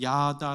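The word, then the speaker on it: ידה: 써요 자 여러분이 다 단어가 히브리 사람들이 있었던 단어로 뭐라고 발음이 되냐면 야다 라고 합니다 성경 구약 에서 타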